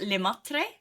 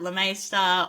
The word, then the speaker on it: Le Maistre: So my last name is pronounced Lemaitre, but in Australia a lot of people just say like Le Maistre, or, you know, there's the master, which is what it means in English.